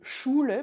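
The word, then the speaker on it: Schule: va s'écrire s ch le ch qu'on connaît en français de chien euh qu'on connaît en allemand de choule par exemple dit choule l'école, il s'écrit sch.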